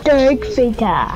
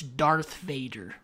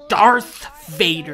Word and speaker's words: Darth Vader: worry I'll give us a the Boost backfire Dar Vader it's not Dar Vader it's Darth Vader Darth Vader no it's not Dar Vader it's Darth Vader dark Mall Dar Vader it's not dark ma